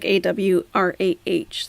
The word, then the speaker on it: awrah: So aura is correct, but it's not really spelled. Well, there is no English spelling for it, but aura is correct. It's like, you could say it like AWRAH, like aura.